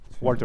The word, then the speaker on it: Walter: Walter. Okay. Mais ça se prononce à l'alsacienne.